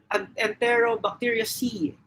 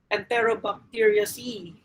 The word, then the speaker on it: Enterobacteriaceae: You'll be able to see the suffix "asi". So this is how we pronounce it, "asi". So for example, Enterobacteria cI, Enterobacteriaceae, Entero, Enterobacteriaceae, and then that's one example of bacterial family.